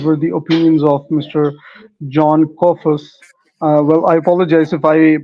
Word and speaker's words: Jon Kofas: John Kofas. Well, I apologize if I pronounced your name incorrectly, No, because it's there pronounced.